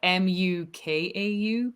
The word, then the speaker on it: Mukau: why kikamu cow but it's spelled m-u-k-a-u but it's pronounced mukau so we kind of